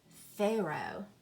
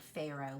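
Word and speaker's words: Pharaoh: the Oh isn't it do you hear that H on the end is it fair oh uh no you do not hear that H it is silent there are some words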